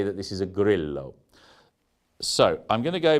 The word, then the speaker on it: Grillo: Now, if you've learnt any Spanish in your life, then your instinct will be, as mine is when I see this word, to pronounce it as grillo, to turn the two L's into a Y almost, grillo. But that's not how the Italians say it.